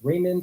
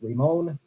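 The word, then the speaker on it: Ramond: By the way, I've heard this pronounced Raymond, I've heard this pronounced Ramon. I'm just going to stick with Raymond.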